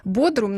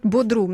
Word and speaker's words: Бодрум: Мы сейчас уточним даже, как корректно ударение, потому что я знаю, что туристы обычно говорят Бодрум, но орфографический словарь пишет Бодрум.